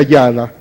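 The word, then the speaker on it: יָדָה: Mira, hermano, la alabanza viene entonces de una palabra hebrea que se pronuncia yada, que significa adorar con manos extendidas o batir las manos.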